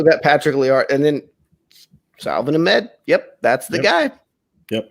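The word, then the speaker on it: Salvon Ahmed: Salvin Ahmed, yes. SALVON. They signed Matt Breida in the offseason. They signed Jordan Howard in the offseason. They still got Patrick Liard. And then Salvin Ahmed.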